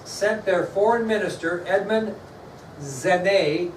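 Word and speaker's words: Genêt: So, on top of all this issue we're in April of 1793, France sent their foreign minister, Edmond Genet. It's not spelt that way, but it's pronounced Genet.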